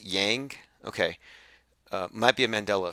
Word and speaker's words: Yang: presidency and then over here someone says it's pronounced yang okay might be a Mandela effect I thought it was wink but anyway another guy lines up and he